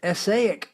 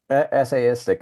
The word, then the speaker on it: essayistic: but you do have essaic work. Am I saying that right? Essayistic is the word.